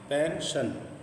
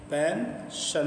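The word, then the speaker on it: pension: पेंशन वजीफा इसे देखिए पेंशन तो एस आई एस के बाद आई और ओ है तो बड़ा श की बात पेंशन पेंशन मतलब वजीफा जो होता है उसे पेंशन कहते हैं।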